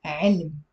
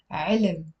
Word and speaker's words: علم: Ain has a kasra, the lam has a spoon, and the mim has a spoon. علم, علم. But because it's a one syllable word, we tend to pronounce it as علم. Even native speakers do that.